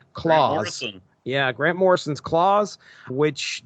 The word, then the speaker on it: Klaus: Mark Radulich and I talked about Klaus, but I think that's pronounced Claus.